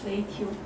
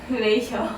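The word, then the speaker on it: ratio: 레이티오. 네? 레이시오로 하죠. 시오요? 네. 왜요? 여기서 T가 시오 발음나니까. 그럼 니은만 빼고 그냥 셔라고 하면 돼요. 셔. 레이셔.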